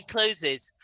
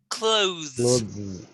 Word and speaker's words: clothes: cl oth yes clothes clothes not clothes clothes that's it it's it's the it's the process of the the the comes under your tongue and then the z which is the tongue